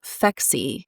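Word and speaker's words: Phexxi: There's also a brand new product that's called Fexi. I'll spell it for you.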